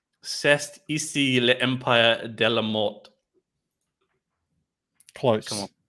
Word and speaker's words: mort: De la mort. You don't pronounce the T on the end.